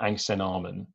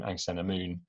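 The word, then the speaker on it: Ankhesenamun: called, in the film, the name is pronounced something like Angsenarmon, which is not a zillion miles away from the very good, well-attested name Angsenamun. We don't really know how ancient Egyptian names were pronounced, so Angsenarmon is probably a pretty good attempt at it.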